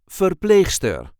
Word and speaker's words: verpleegster: And this time we will see how to pronounce verpleegster, or female nurse, or verpleger, male nurse. This is the way we say verpleegster, or verpleger, verpleegster, Verpleger. There is a light emphasis on the second syllable, Verpleegster, or Verpleger, Verpleegster, or Verpleger, Verpleegster, or Verpleger.